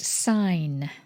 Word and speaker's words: sign: twos okay we've got sign from latin to mark indicate a symbol signal signage signify significant signpost signature design design resign resignation sometimes the g is silent and sometimes it's pronounced to help with the